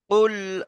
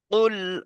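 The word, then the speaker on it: قُلْ: আচ্ছা, একটু কেটে কেটে বলে দিই, দেখেন, কুল আউযু বিরাব্বিল ফালাক। আচ্ছা, এবারে আমরা একটু বানান করলে আমাদের উচ্চারণটা আরো সহজ হবে, দেখেন। প্রথম আছে কি? কফ লাম পেশ, কি হয়? কুল। কফ লাম পেশ, কুল।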